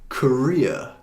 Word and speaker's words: Korea: 그리고 세 번째는 Korea. 그래서 또 두 번째 강제하는 거예요. Korea.